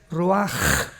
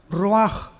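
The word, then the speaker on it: ruach: en el hebreo es Roach. La CH en el hebreo es como J, Roach, que significa espíritu.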